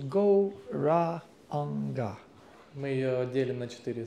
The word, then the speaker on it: Gauranga: Divided into four syllables, Gauranga.